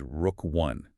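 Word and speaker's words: Rook I: For you listening, we must explicitly refer to and pronounce this project as Rook 1. The CNSC granted full site preparation and construction approval for NextGen's flagship project, Rook 1. Rook 1 is widely considered a generational asset.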